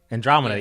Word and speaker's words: Andromeda: Andromeda, yeah. I'm like, I know the word, but it just the pronunciation wasn't coming.